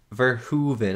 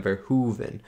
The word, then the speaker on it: Verhoeven: verhoeven ver for heaven verhuven i think that's how you say it i think that's how you say it verhuven right like hoover dam verhoven i'm sorry if i'm